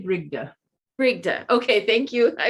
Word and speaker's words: Brigde: i pronounce it right are you male britia i say brigda frigda okay thank you